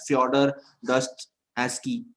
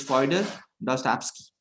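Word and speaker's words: Fyodor Dostoevsky: be you will be reading this name as foder Dusty so it's fer dust absk only psychologist from whom I have anything to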